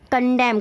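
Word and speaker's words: condemn: English में next है कंडेम कंडेम में देखिए कंडेम में क्या है एन साइलेंट होता है निंदा करना कंडेम यानी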